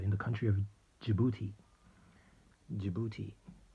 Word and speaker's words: Djibouti: Djibouti, that's spelled with a D.